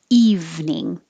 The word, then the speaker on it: evening: first way curriculum 28 has just two syllables it looks like three but we don't say the middle e it's just evening evening and 29 you can